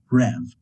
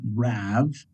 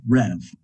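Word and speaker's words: raibh: and that is pronounced rev note that rev is pronounced irregularly it is not RAV but rev the reason is that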